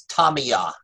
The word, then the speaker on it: Tamiya: something I learned this past week the correct pronunciation of that paint is Tommy ah I didn't know it I've been pronouncing it